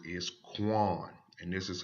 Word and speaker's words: Qayin: And the way this pronounces is Qayin.